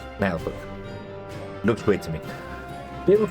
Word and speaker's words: Naheulbeuk: trailers to this to find out exactly how they pronounce it and it's nail book looks weird to me